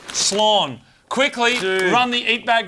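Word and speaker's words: Slán: Joy from Dave Clayton San is goodbye in the Irish language it's pronounced slon quickly run the eat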